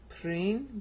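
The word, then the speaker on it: πρίν: All right, and the reason we know that is due to this word πριν right here. It means before. Okay? See, before that. Πριν is how you pronounce it.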